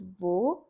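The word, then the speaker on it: वे: And if they are standing far from us, we use V. V becomes our pair for they are. It's written like this in the script. We is how it is written. Pronunciation V.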